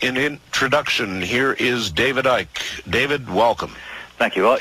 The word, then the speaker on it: Icke: Nobody would pronounce their name Icky. But when you were a child, David, based on how it's spelled here, did you have a rough time with this one? No. They called me Icke. They called you Icke? Yeah. I mean, you don't pronounce the C.